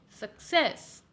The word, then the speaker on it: success: The more stress will be on the second part of the word, therefore success.